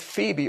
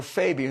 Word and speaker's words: Phoebe: For example, Paul in Romans chapter 16 talks about Phoebe or Phoebe, whichever pronunciation one wants to use.